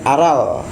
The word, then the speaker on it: aral: Terus kemudian aral tuh halangan. Iya sama. Aral. Kita bedanya pakai R ya. R kita lebih kepada berkarat di tenggorokan.